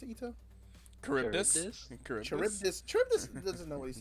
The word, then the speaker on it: Charybdis: How do you pronounce it, Ito? Charybdis. Charybdis.